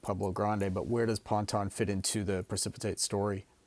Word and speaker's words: Ponton: You have another project that I don't think we've touched on, and I might I might butcher the name, Ponton? Ponton? Ponton. We we call it Ponton.